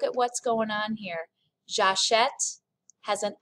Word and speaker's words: j'achète: So this verb is pronounced j'achète, tu achètes. There's the eh sound right there with the accent grave.